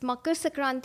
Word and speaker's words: Makar Sankranti: Can you please pronounce it one more time? It's Makar Sankranti in my Makar region, Sankranti.